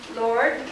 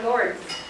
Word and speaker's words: Lourdes: These is either pronounced Lord or Lourdes.